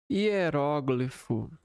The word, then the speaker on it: hieróglifo: Hieróglifo. O hieróglifo. Ambas as pronúncias são aceitas. A palavra pode ser pronunciada com acentuação na segunda sílaba ou sem acentuação.